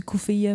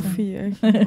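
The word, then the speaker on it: keffiyeh: Ben ça s'écrit kefillé mais en arabe je dis coufill mais c'est Ouais ouais coufill je sais dans si tu dis cfill personne va comprendre si tu dis qu'fier il y en a peut-être une gang.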